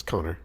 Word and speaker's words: Conchobar: But Connor's original name in Gaelic would be Conchobar, which means nothing to English-speaking people, but it's Connor.